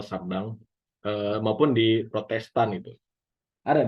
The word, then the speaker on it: Chardin: Bacanya Sardin ya, dan untuk beberapa tahun saya masih menyebut itu Sardin gitu. Ternyata Sardang.